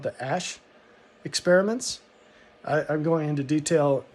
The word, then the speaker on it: Asch: But you can look it up now, and that's spelled ASCH. And so Ash actually quantified how often